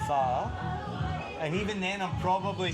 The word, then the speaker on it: Phở: It's pho. And even then I'm probably saying it wrong, but it's not pho. Pho.